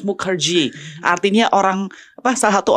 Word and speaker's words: Mukherjee: yaitu adalah Mukerji kata bacanya harus Mukerji artinya orang apa salah